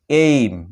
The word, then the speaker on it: aim: যেমন দেখো AIM, এইম, এখানে দেখো শব্দের শুরুতে রয়েছে এইম।